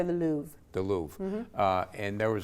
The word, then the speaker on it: Louvre: You go down to some museums sometime, and I was in, do you pronounce it the Louvre or the Louvre? I say the Louvre.